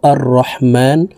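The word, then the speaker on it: الرحمن: জজমলা হা কে ধরবে হার উচ্চারণ হলকের মধ্যখান থেকে উচ্চারণ করে পড়তে হবে কারণ হার মাখরাজ হলকের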